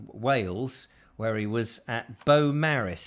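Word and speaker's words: Beaumaris: was at bo maris he's told me how it's pronounced it's spelt very differently in welsh because that's a different language um and he is in beau maris i think it's a bit like the potato but very different so that doesn't make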